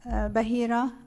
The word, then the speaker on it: Bahira: I'm going to get you to uh state your full name and spell it please for the record. My name is Bahira.